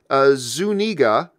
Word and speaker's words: Zuniga: Also, happy birthday, and it's Zuniga. You're talking about your last name. It's Zuniga. You said it wrong last time.